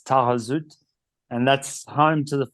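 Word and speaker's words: Taghazout: YouTube videos that I watched they call it tagaz because it's spelled t but uh in French you don't pronounce the the H so it's tarut and that's home to the famous Anchor Point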